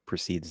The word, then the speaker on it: precede: So they can both reduce to a schwa, proceed. So how should I proceed? Or what precedes that? Exactly the same.